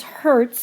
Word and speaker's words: hertz: Or you can write it as capital H lowerase Z and that's pronounced as Hertz.